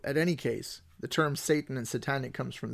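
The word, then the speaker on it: שָׂטָן: I think in Hebrew it is not shaitan it is satan in Hebrew. At any case the term satan and satan it comes from there.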